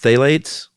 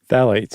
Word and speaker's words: phthalates: And other people would say, no, if you heat up a bottle that has, how's it pronounced? Phthalates? Phthalates, yeah. Phthalates? Phthalates.